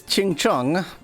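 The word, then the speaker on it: 青城: This place is Qingcheng. That's actually the correct pronunciation, but I sound so racist saying that.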